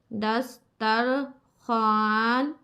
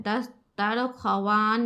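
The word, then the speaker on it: दस्तरख़्वान: नून साकिन दस्तर खान यह वाव जब ऐसा हो लिखा हुआ तो पूरा पढ़ने में नहीं होता है थोड़ा सा आवाज यहां पर साइलेंट होता है दस्तर वान नहीं पढ़ेंगे दस्तर खन पढ़ेंगे बे जेर बी चे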